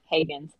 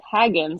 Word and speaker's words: Hagins: last name correctly Hagen and I said a lot of people say it like Haggins like Frodo Baggins and uh because I